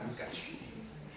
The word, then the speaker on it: Lukács: Mais c'est Lukács. Donc avec un accent, ce qui correspond à un accent aigu, mais c'est pas un accent aigu, évidemment, sur le A. Et le C, ça se prononce tch. Hein, Lukács.